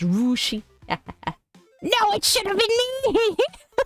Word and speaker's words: Russia: am no longer coing Russia Ohio is pronounced rushi No it should have